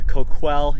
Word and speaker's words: Coquille: is Chief Don Ivy the chief of the Koch well Indian tribe I said it right you did